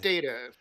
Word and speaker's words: Data: It's pronounced data and she was purposefully saying it to